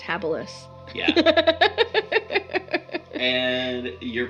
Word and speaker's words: habilis: I mean, the woolly mammoths, the Cro-Magnons, the Homo habilis, and it's pronounced habilis.